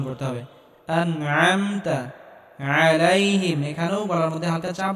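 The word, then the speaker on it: عليهم: হবে এখানে আইন গলার মধ্যে হালকা চাপ দিয়ে উচ্চারণ করতে হবে আলাইহিম এখানেও গলার মধ্যে হালকা চাপ দিয়ে উচ্চারণ করতে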